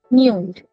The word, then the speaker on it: nuit: That means I am not pronouncing the t over here, isn't it?